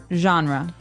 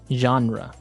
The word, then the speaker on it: genre: We say genre. Genre. Or genre. So this kind of sounds French. Is it French? I think it comes from French. It's a GE word, so genre. It's a soft sound.